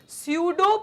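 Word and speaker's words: pseudo: क्या होता है स्टूडेंट्स ये जो वर्ड है इसको प्रोनाउंस हम सूडो कहते हैं तो सूडो का मतलब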